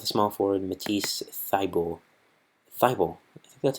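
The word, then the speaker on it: Thybulle: they go with a small forward Matisse fybel Fievel that's how you say his name I heard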